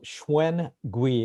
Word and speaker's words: Shwen Gwee: it's mutual um so schwein gui it's very phonetical it's actually pronounced exactly how it's spelled perfect very easy eugene